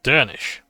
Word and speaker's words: Derniska: Derniska sounds Dernish, since the final SC cluster sounds like an ish sound.